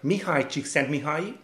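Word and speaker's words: Mihály Csíkszentmihályi: that is something that has been introduced by mihai chiksen mihai and yes that is how it is pronounced well actually in Hungarian it's the other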